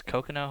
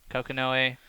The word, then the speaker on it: Kokonoe: Is Kokono how you spell it? Or say it? Kokanoe. Kokonoe, Yun, and Vanilla Phoenix.